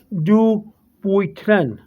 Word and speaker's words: Dupuytren: i'm saying well i it's really a french word uh they have a french pronunciation but in english and here in america in english is do boytren dubois trina's name of